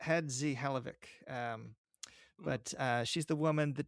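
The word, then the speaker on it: Hadžihalilović: It's Hadzi Halovic.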